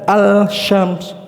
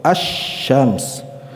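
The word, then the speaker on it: الشمس: ada tasydid di atasnya, dan cara pengucapannya dilebur, dibaca asy-syams bukan al-syams, bukan, tapi langsung asy-syams. Ya, suara lamnya lebur ke huruf shin.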